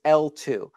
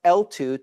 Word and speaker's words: eltoo: The most recent specification for payment channels is L2. It's spelled E-L-T-O-O, but it's pronounced L2 to sound like Layer 2, L2, the acronym for Layer 2 networks.